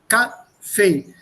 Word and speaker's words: Kaffee: Luftwaffe, Kaffee, zweisilbig, das ist zwei Syllables. Two syllables, the break here. Kaffee. The stress is on the second syllable.